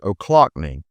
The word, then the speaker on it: Ochlockonee: But I've done a little research and I've learned that is ollockning is the correct way to pronounce it.